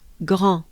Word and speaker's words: grand: Make sure you just pronounce it with a French accent. En, again, en. Just think of restaurant, en, with a French accent, very French, rond.